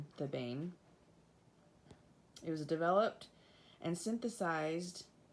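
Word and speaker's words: thebaine: and that alkaloid is it's spelled t-h-e-b-a-i-n the bane it was developed and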